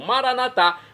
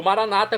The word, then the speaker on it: maranata: E agora eu clamo maranatá, como dizemos nós católicos, ou maranata, como dizem nossos irmãos separados, os evangélicos ou protestantes.